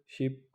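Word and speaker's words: 십: तो 80 को हम फल शिप लिखते हैं।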